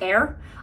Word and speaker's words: Ayr: during winter time so Ayr is a nasal saline gel I think actually can be pronounced air I just always say Ayr because I don't know